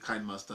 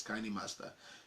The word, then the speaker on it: KineMaster: master anywhere we go we used to call it kind master before but let I discover the pronunciation is kinda master so and shoots in